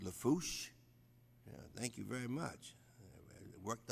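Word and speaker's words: Lafourche: Randolph is the parish president, and of course, pronounced Lafouche.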